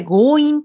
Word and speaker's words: 強引: これ強引と読みます。